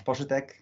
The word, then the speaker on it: Poszytek: last one more time my name is posch um I know the last name is really difficult to pronounce it's really polish there is a lot